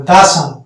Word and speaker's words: the: না, দা বলতে হবে, দা সান, দা সান। এই দি এর কিন্তু দুটি উচ্চারণ আছে, দি এবং দা।